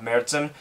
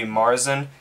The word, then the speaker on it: Märzen: it's heavy seas mercen and that's how you pronounce it by the way when you have the the umlaut it's uh mertzen um if you read it without the umlaut it'll be marzin which sounds close to march which is what